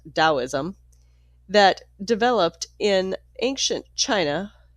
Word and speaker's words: Taoism: The Taoism, pronounced Daoism, that developed in ancient China was a combination of philosophy and mystical religion.